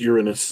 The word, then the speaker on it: Uranus: Aren't we allowed to pronounce it Uranus? Can't we just? Yeah, that's another pronunciation. That's the one I use, Uranus.